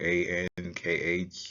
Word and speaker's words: ankh: symbols foreign the key is always transliterated using a-n-k-h and translated as ankh pronounce Ankh the pastel is translated as TI